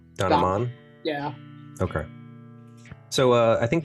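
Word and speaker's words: Don, Aman: I've always done it like it rhymes. Don Don. Aman.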